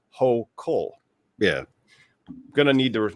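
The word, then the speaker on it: Hochul: governor of new york kathy hoechel uh actually believe is pronounced ho cole yeah i'm gonna need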